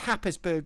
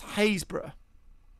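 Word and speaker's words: Happisburgh: it's pr i used to think it was pronounced happens berg but it's pronounced hazebra right hazebra haysberg yeah hayes bro yeah so yeah but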